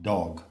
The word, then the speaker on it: Dzog: Now, another scholar has proposed that the word Dzog, which rhymes with sog and dog, in fact, it doesn't rhyme with dog, it is pronounced dog.